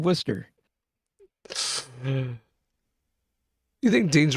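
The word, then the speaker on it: Worcester: are you talking about it's English people pronouncing things weird it's like Worchester being Worster you think Dean's right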